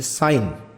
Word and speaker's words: sin: इनसे लिखने से पहले हम थोड़ा कुछ चीज़ें सीख लेते हैं, जैसे साइन। वैसे तो हम इसको सिन लिखते हैं, पर एक्चुअली में इसकी जो स्पेलिंग होती है वो SIN ही होती है